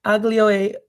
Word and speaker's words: aglio: I guess Aglio the e G is silent.